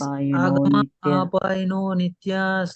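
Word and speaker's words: आगमापायिनो नित्याः: आगमापायनो नित्या आगमापायनो नित्या it is agama apaino nityas, like that you have to pronounce agama apaino nityas आगमापायिनो नित्या आगमापायनो पायिनो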